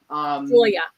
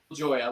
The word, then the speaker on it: Joya: Joya. Mm-hmm. Yeah, Joya. Like kind of like the beans.